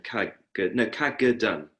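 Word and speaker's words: Kagedan: Cadogan.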